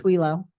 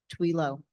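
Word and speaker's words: Thuilot: Tell me your last name. Pronounced Twilo. Twila. T, Twilo. spell it T. T-H-U-I-L-O-T. Twilo.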